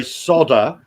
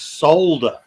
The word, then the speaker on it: solder: that's the same as the Americans say solder where there's an L in it it's solder yeah is silent in America what yeah yeah and